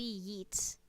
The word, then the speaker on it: Yeats: Yeats. Not spelt Y-E-E-T. It's spelt Y-E-A-T.